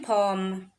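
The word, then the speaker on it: pomme: So that is how you're going to read it in pom.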